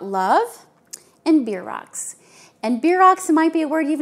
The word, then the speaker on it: bierocks: and beer rocks and beer rocks might be a word you've never heard of before it's spelled b-i-e-r-o-c-k-s so it's not like beer if you're a beer